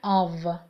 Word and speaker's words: of: با اینکه او اف نوشته میشه خونده میشه of. یادتون باشه این رو اشتباه تلفظ نکنید. of نداریم.